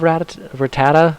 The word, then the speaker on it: Rattata: I love Rattata.